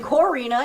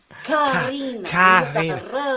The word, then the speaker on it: Karina: So, you're saying it wrong. That you white person, you're saying Corina. It's not Corina, and I'm gonna. It's Karina. Karina. And white people can't do it. White people cannot do it.